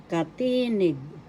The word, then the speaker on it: katinig: You pronounce it as katinig.